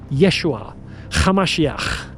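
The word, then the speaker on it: ישוע המשיח: call them Yeshua Hamashiach, with a ch sound.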